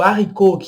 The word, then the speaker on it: haricot: Tem o huit, huit, não falamos o H, e o haricot, que quer dizer feijão. Também a gente não pronuncia haricot. Haricot não parece que tem um H, mas a palavra é escrita com H.